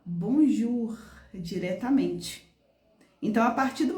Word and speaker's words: bonjour: olha só que legal uma palavra simples Bonjour você pode perceber que a gente pronuncia a gente escreve bonjou ur mas na verdade o o com u tem som de quê De u então eu não vou falar bonjou ur eu vou falar bonjur diretamente Então a partir